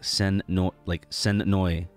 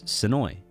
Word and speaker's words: Sonoy: There's no like Sonoy. It's Sonoy. All fluid.